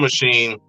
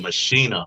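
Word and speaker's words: Maschine: actually use this drum machine, or use this software by Native Instruments, machine. I think they might call it Machina or something. It's actually the way that you pronounce it, but we say machine.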